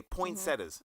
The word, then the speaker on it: poinsettia: Okay, poinsettias. Mm-hmm. What does that have to do with Christmas trees or Christmas? Poinsettias. Actually, poinsettias were Point? Did I say it wrong? Yeah, just poinsettia.